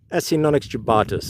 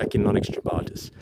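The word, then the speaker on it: Acinonyx jubatus: Asinics jubatus or ainonics jubatus. And it doesn't matter how you say it. Anyone is wondering out there cuz it's a dead language supposedly Latin. So you can say it however you like.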